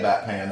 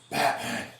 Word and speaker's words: Batman: go, first of all, it's not the Bat Pan. Second of all, even if it was, you're saying it wrong. No. Well, no, they just want... Someone did that. I go, no, that's not what it would even be there either. It's Batman. Batman. Batman.